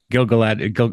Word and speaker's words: Gil-galad: Gil-galad. Yeah, people pronounce it different ways, but yeah, Gil-galad works. Gil-galad, Gil-galad.